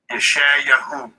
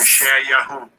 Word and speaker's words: Yeshayahu: Yeshayahu. That's Yeshayahu.